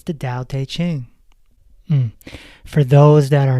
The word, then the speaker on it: Tao Te Ching: Book number 5, speaking of Lao Tzu, it's the Tao Te Ching. For those that are not familiar, it is spelled Taoteteching. In Chinese, T's are pronounced D.